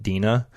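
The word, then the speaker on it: DeNA: square enix and dna dna is print is spelled d-e-n-a so a lot of the folks in the community call it dina so if i refer to dina that's that's what that means but you may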